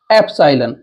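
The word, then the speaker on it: epsilon: number जो हमारा है उसको बोलते हैं ए सालन ए सालन बोलेंगे लेकिन लिखेंगे इसको एलन यू पी एस आई एल ओ इसे ए सालन बोलिए या ए सालन यह हो जाएगा एलन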